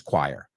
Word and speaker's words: choir: La expresión es choir. Okay, que es raro. Es C-H-O-I-R. Choir se pronuncia.